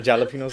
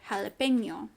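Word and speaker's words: jalapeño: have the enye so the n with the squiggly line at the top or tilde right that's enye that is what makes us pronounce the word jalapeno oh i see so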